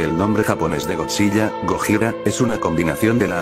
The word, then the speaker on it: Gojira: gotzilla se escribía como Aunque todavía se pronunciaba como gojira esta Encarnación específica de